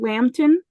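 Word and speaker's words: Lambton: sir hedworth lambden L MB t o n Lampton I you know I'm I'm not going to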